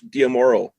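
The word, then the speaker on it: D'Amaro: Josh Diamoro moves into the chairman of Disney Parks. Is that how you pronounce it?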